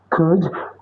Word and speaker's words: could: Will, would, can, could. The L is silent, like I said again.